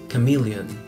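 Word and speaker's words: chameleon: stout stout después tenemos el camaleón que se pronuncia cameleon cameleon y se escribe como aparece en la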